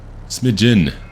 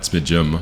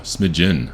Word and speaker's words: smidgen: Smidgen, not smidgem, smidgen. I learned that 2 episodes ago. I've been saying it wrong my entire life.